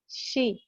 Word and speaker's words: chez: طيب ال EZ زي essayer، زي rendez-vous rendez-vous، زي chez chez.